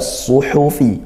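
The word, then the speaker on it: صُحُفِ: Terakhirnya ayat yang ke-19 suhufi. Suhufi hati-hati pelafalan huruf shad. Sekali lagi suhufi dan huruf ha dia bersih di sisanya bukan suhufi. Ah itu masih ha suhufi.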